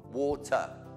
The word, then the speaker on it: water: bana uh banana twice when the r is the last letter in a word in English Forget it pretend it's not there unless it's connected to another word but that's just an exception water water the water a